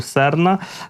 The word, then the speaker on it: Серна: кораблі типу серна проекту серна російською наголос на першу на перший склад на літеру е і якраз повідомили про